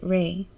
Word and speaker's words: Rai: His name is Rai, but his family pronounces it Ray.